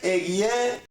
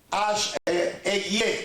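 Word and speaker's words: אֶהְיֶה: El hebreo dice Eguié, Eguié, can you repeat after me again?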